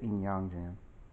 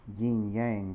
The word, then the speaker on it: Yin Yang Jian: forge uh in yangjin this should be the in yangjin i know and most people pronounce it as yin yang but that's you know as a former student of chinese i'm obliged to say just like if it